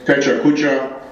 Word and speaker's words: Pecha Kucha: Nicholas, Bálint, Andrea, Zsuzsanna, and all others participating in today's Pecha kucha. I looked up the pronunciation, that is how you pronounce it, even